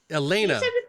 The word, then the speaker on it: Elena: i'm retraining my brain elena elena think like banana atlanta okay yeah that'll actually